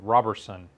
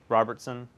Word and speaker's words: Roberson: I apparently pronounce it I bet a lot of people put a T in there Robertson yeah and you say